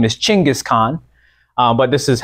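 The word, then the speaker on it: Genghis Khan: pronunciation of his name this is the white European way to pronounce it his it's his actual name is chingis Khan um but this is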